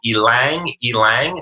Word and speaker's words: ylang: There's something called ylang, that's spelled Y-L-A-N-G.